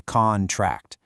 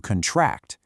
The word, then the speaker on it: contract: bees because it has two completely different pronunciations depending on how you use it. As a noun, you say contract, but as a verb, you contract.